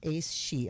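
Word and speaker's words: Aes Sidhe: Hades was Lily and black tourmaline of course um Sphinx was Acacia and Barrel and then she I wish she gave pronunciations or Ace she okay yes it is she or a-e-s-s-i-d-h-e I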